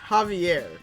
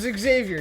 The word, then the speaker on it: Xavier: Yes, it's pronounced Javier. Wait, no. No, it's not. My name is Xavier.